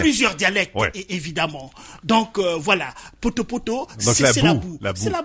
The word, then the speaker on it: Poto-Poto: Ouais, Poto-Poto. Tu peux le dire comme ça? Oui, Poto-Poto. Voilà, c'est un plaisir de le prononcer.